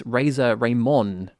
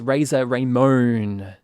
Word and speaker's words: Razor Ramon: so he complained that i pronounced the wrestler from the 1980s as razer raymond where it turns out thanks to tj that his name is razer raymond so we just want